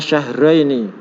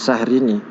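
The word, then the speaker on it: شهرين: Ibna syahraini. Syahraini ya, bukan sahrini.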